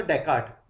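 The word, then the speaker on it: Descartes: Western philosophy में आओ तो डेकार्ट, ओके, इसमें एस साइलेंट है दोनों, ये भी एस भी साइलेंट है, ये एस भी साइलेंट है, इट इज डेकार्ट, ओके।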